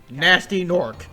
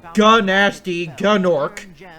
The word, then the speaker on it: Gnasty Gnorc: And yes, it's canonically pronounced nasty, not gnasty gnorc.